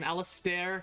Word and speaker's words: Alasdair: Alasdair, that's how the first name is pronounced. Scottish names be weird.